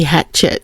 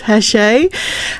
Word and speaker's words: Hachette: I think you pronounce it because it is a French company. If I pronounce it with my Australian accent, it would be Hatchet. So, I'm pretty sure it's Hashe.